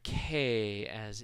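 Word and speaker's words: к: Here we go, the letter K, as in skin. The Russians call that ka most of the time.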